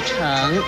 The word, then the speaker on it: 骋: 骋字的国语注音是骋，三声成，诗嗯成，三声成。